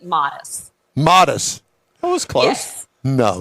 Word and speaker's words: Matus: We pronounce it Modest.